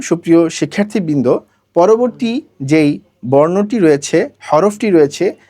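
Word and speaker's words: ر: খেয়াল করুন সুপ্রিয় শিক্ষার্থীবৃন্দ, এখানে র উচ্চারণ করার সময় আপনাকে মোটা করে বলতে হবে র।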